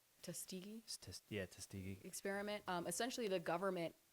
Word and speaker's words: Tuskegee: Like with the Tuskegee experiment, I can't pronounce it. Yes. What was I that? think you said it right. Tuskegee Tuskegee.